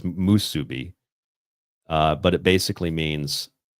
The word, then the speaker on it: musubi: think see I think I put masubi I my wife says musubi uh but it basically means um to be bound to the divine plan.